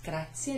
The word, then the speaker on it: grazie: Grazie, remember, e. So in Italian you'd say for e, and you pronounce it that way too.